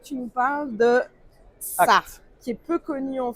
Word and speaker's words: ACT: le Donc prononce. on est Acte.